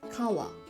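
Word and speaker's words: 川: For example, this letter is pronounced as kawa, and it means river.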